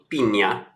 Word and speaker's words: Pina: So Cesar Humberto Pina, I'm sure it's pronounced Pina, aka Flipping NJ.